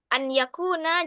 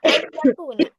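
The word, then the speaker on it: أن يكون: An yakuna jangan dibaca ay yakuna. An yakuna jelas.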